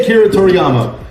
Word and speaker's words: Akira Toriyama: I can't pronounce it. Say Akira Toriyama.